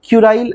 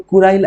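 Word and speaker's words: Kuril: को जो है ना हम लोग क्यूराइल आइलैंड्स बोलते हैं, है ना। प्रोनाउंसिएशन बॉय कोई क्यूरिल बोलेंगे, कोई कुराइल बोलेंगे, कोई बात नहीं, चलता है, इंडियन है ना हम लोग, चलता है।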